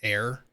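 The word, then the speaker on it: Ayre: Which sounds funny with her name because it's pronounced like air.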